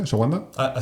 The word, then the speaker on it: ashwagandha: ¿Cómo se pronuncia? ¿Ashwagandha?